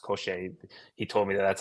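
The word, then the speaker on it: Cosce: now at welterweight his wins are against Lewis kosher or kosi it's actually pronounced koser he told me that that's how it's pronounced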